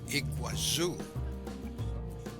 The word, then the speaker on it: Iguazú: to Brazil's par nasel iguasu slightly different pronunciation and Portuguese than the Spanish Iguazu the border crossing was